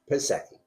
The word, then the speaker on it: Piasecki: I'm your host, Brian Martindale, and today we are with Piasecki. Am I pronouncing that right? Piasecki. Okay. I wanted to correct myself there.